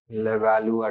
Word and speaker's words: Levallois: Levallois technique, right? French word है, it is pronounced Levallois technique.